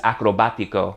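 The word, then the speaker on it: acrobático: Acrobatic in Spanish is acrobatico. Notice the accent on the a.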